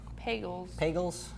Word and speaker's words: Pagels: Pagels. I think it rhymes with bagels.